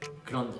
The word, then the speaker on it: 그런데: 그런데 sounds like grande. Grande when you order grande size in Starbucks.